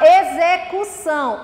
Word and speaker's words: execução: Quando o X vai ter pronúncia de Z, é quando a gente tem uma vogal na frente e outra vogal depois do uso do X.